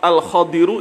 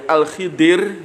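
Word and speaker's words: الخضر: Huwa utawi abdan hamba itu adalah al-Khadiru, itu adalah Nabi Khidir. Ada yang membacanya Al-Khadir, ada yang Al-Khidir, yaitu Ataina wis maringi sapa ingsun hu ing abdan.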